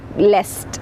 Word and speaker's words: lest: enjoy contented lest now that is to be pronounced less though it is it means least it is to be pronounced lest okay all right so